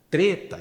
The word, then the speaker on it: treta: Tem a orientação da pronúncia aí com E fechado, né?